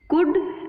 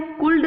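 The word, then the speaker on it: could: एल इसमें जो होता है वो साइलेंट होता है, साइलेंट होता है, इसका मतलब कि एल का उच्चारण यहाँ पे नहीं होता है, ठीक है। तो शुड, कुड, वुड, शुल्ड नहीं बोलना है, कुल्ड नहीं बोलना है, उल्ड नहीं बोलना है। बहुत से बच्चे गलती करते हैं, शुल्ड, कुल्ड, उल्ड बोलते हैं, तो दैट इज रॉन्ग।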